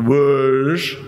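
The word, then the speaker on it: Łódź: he he curates the wood for photo festival that's LOD Z wood because my polish pronunciation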